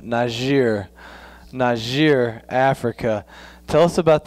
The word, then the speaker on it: Niger: So you're going to Niger. We call it Niger. You got the French pronunciation of Niger.